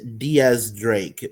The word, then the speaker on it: X Drake: X Drake is pronounced Diaz Drake because Diaz means 10 in Spanish and X is the Roman numeral for 10.